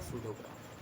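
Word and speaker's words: pseudograph: हम बोल देंगे आपका शूडोग्राफ देखो इसमें जो पी है ना ये साइलेंट है जैसे साइकोलॉजी में पी साइलेंट रहता है ऐसे ही इसमें भी सूडो में पी साइलेंट है। ये बोलेगा सूडोग्राफ।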